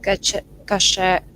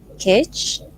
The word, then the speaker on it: cache: So the next question is, can you specify any recommendation for cache management in React? Maybe Ooh, I pronounce it not correctly. Cache or cache?